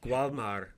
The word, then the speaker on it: Walmart: Yes, in Spanish, it's pronounced Gualmar.